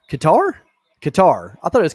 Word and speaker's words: Qatar: us don hates it ktar is pronounced like guitar but with a cue kitar katar katar i thought it